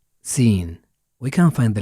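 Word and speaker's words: سين: to the next letter its sound is SA like the first letter in smile and its name is seen we can find the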